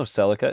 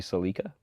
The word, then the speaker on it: Celica: Because did you know Celica is actually Celica? That is the way most of the world pronounces Celica, is Celica.